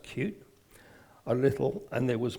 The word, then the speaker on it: Qt: and I explored cute QT pronounced cute a little and there